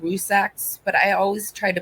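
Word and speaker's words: Rzucek: I know it's more of a Z, Rusaks, but I always try to put the checks in there.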